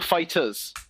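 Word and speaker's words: FighterZ: Yeah, it's Dragon Ball Fighters. Oh wait, that's on sale. You don't pronounce the Z. You pronounce it as an S.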